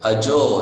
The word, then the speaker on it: अजो: Ajo, it's ajo.